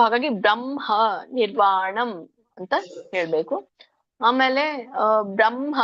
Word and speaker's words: ಬ್ರಹ್ಮ: ಸಯೋಗಿ ಬ್ರಹ್ಮ ನಿರ್ವಾಣಂ ಬ್ರಹ್ಮ ಇಲ್ಲಿ ಬ್ರಹ್ಮ ಅಲ್ಲ ಬ್ರಹ್ಮ ಎದೆಯಿಂದ ಬರಬೇಕು ಅದು ಹ ಅಂತ ಈ ಆ ಇದರಲ್ಲಿ ಇದೆ ಸಂಸ್ಕೃತದಲ್ಲಿ ಸೋ ಹಾಗಾಗಿ ಬ್ರಹ್ಮ ನಿರ್ವಾಣಂ ಅಂತ ಹೇಳಬೇಕು ಆಮೇಲೆ